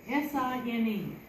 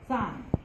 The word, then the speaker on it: sine: S-I-N-E. Rhymes with fine, dine, mine, wine, sine, right? Rhymes with sign, like a road sign, but not spelled S-I-N-E, sign.